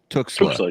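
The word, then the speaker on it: Tuxtla: Talk to us a little bit about there's also and I always butcher the pronunciation, but Tuxla. Tuxla.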